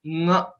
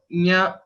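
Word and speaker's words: ङ: There is a confusion for most of the people to pronounce this letter, the last letter, which is Nga. Some people say Nya, Nya, etc. But the right way to pronounce is to note the exact place of origin of Ka and Nga are same.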